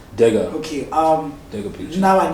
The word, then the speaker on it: Dega: DEGA pictures. DEGA pictures. I thought I get Deha. Oh, Dega. Which is why I was spelling it. No, okay, Dega. It's Dega.